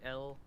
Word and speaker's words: Pilimok: It's Tillamook, the cheese company, but without the T.